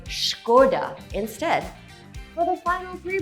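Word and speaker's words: Škoda: Well there's a "hidden" h in there, so say Shko-Dah instead.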